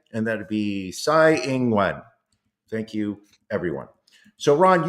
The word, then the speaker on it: Tsai Ing-wen: That would be Hu Yu-yi, that would be Ko Wen-je, that would be Lai Ching-te, and that would be Tsai Ing-wen.